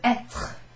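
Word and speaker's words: être: So back to this verb etre. Etre. I'm over-enunciating that R-E, but etre.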